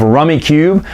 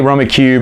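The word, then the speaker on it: Rummikub: to because rummy well I say rummy cube everyone's kissed that's not how we pronounce it rummy cub that's fine whatever I just know well maybe my whole family just mispronounced was could we didn't care we caught rummy cube it's a fantastic game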